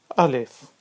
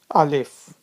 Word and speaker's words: alif: It's a straight line and it is pronounced as alif. Alif.